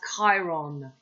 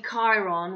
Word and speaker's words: Chiron: i showed you k chiron when it hits chiron's last degree chiron is pronounced with a k not a chai it's written chiro aquarius